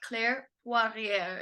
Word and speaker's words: Claire Poirier: We have Claire Poirier. Is that correct? Did I pronounce her name right?